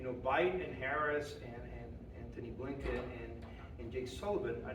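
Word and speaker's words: Antony: Sorry, Anthony, I keep forgetting that he doesn't pronounce the H. And Anthony Blinken, this foreign minister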